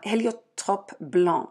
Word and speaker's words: Heliotrope Blanc: this stuff it's called heliotrope blonde uh Helio top blonde that's how you pronounce it it's Blanc with the c at the end but in French you don't hear the C uh and it's by